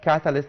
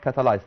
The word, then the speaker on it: catalyst: catalyst catalyst okay catalyst you can pronounce it catalyst not catalyzed okay so it will